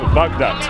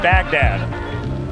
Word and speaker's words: Baghdad: and I'm working on my pronunciation of bug duct it's not Baghdad we need to stop